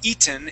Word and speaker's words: eaten: you want to make sure that you are saying eaten instead of Ean uh because then uh they would not be able to understand you very well because there's not another word that is pronounced e okay so make sure that when you pronounce that word the accent or the stress is on the e sound okay okay all right